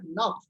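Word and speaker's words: neuf: Then nine is pronounced as nuff. Okay.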